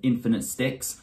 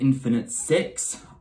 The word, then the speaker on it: InfniteStix: of this show um infinite sticks so in my previous reaction to episode one I said your name wrong I said infinite six I did not see the T in the title you see even when